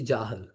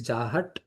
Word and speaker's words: Jahat: So when you search in the Veda base, you will see Jahal. Right? So Jahal, Ajahal, Lakshana. But actually it is Jahat. In pronunciation, it is Jahat, Ajahat, Lakshana.